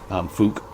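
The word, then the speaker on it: Fouke: It's F-O-U-K-E, Folk Monster. Fook Monster, I think it's Fook.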